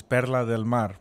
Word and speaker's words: Perla Del Mar: budget for it now the pronunciation for PDM is per delar which means pearl of the sea pearl of the sea